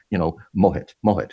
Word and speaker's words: Mohit: So it took the time to say, Mohit. That's how you pronounce it?